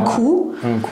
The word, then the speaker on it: coup: Un coup. Coup, quindi Q si scrive C-O-U-P, quindi la P è muta, che vuol dire boire un coup, vuol dire venire a bere un bicchiere.